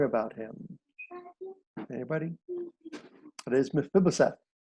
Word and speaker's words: Mephibosheth: It's really hard to pronounce. Leland sang a song about him. Anybody? It is Mephibosheth. Mephibosheth.